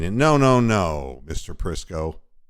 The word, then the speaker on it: Prisco: no no no Mr prisco your last name rhymes with Crisco which is what I